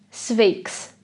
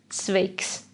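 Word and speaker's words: sveiks: is plural or singular if we say hi to a boy or a man we get the word svakes swakes if there is a girl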